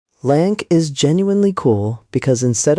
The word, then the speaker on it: LAANC: There's also something called LAANC, pronounced like Lance, which is an automated system that can approve airspace access in seconds for pilots in controlled zones. LAANC is genuinely cool because